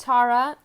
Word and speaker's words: Tara: Okay, so Green Stara, pronounced Tara, is the Hindu and Buddhist goddess whose name means star in ancient Sanskrit.